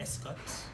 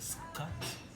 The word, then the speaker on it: Scott: pronounce my name in Escot. Escott? Escot. Or sometimes They couldn't like- say the Scot. They say Escot because for them this intonation is weird.